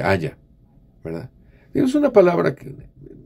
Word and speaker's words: haya: No se dice aiga, se dice haya, ¿verdad?